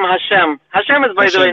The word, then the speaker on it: Hashem: And okay, you believe in Hashim? Is it Hashim? How do you pronounce it? We call him Hashem.